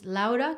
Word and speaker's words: Louda: my name correct, because it's Louda, because it's Laura, because it's Louda, but it's spelled Loud, like David, A. So it's like loud, como recio, and then so it's Louda. Yeah.